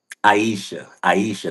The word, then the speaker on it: Aisha: She don't know it, but Asha might have changed my life. She don't know it. Aisha, that's how you say it.